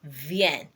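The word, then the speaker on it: viens: on Jo ven ven that's ven is spelled as v i e n s v i e n s ven Bravo I come okay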